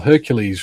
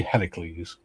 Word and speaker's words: Heracles: Well, Hercules was chosen because it's easy to say, and isn't it the Roman pronunciation of it, Gary? I suspect it is, yeah. Heracles is definitely Greek. Yeah. And since it's Greek mythology, it should be Heracles.